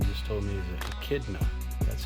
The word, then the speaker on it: echidna: And besides the jackalope and the platypus, this Miss Eileen just told me is an echidna.